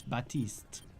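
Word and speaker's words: Baptiste: the new hero the the P in his name is silent says batiste you say know how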